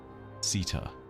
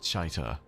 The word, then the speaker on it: Sita: the so-called Worm Mother, Sita. No, not Chaita, as I previously pronounced it all the way back in the times of, like, Witch Queen.